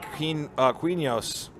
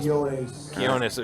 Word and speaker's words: Quinones: Danny Quinos. Pretty sure I pronounced that. Quinones. Yeah, I pronounced that about as poorly as I could have.